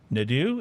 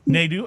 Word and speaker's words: Nadeau: your last name right it's lori nadew is that right neither nedu okay the emphasis on net okay fair enough so lori nadu uh you started the